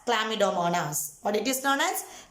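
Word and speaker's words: Chlamydomonas: will understood the spelling it is pronounced as clamidomanas what it is known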